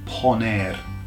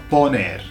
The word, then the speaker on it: poner: And that's poner. Poner. Okay. Poner to put. So, it's just like per put here. Put here the thing. Pon air. Okay. Pawn put.